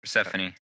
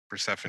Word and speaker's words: Persephone: him abducting persev how do you say her persephone persephone that relates to pluto by the way too